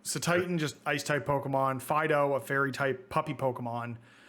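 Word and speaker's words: Fidough: for you here also fido dog but it also looks like bread and it's spelt f-i-d-o-u-g-h like dough like bread dough it's great i love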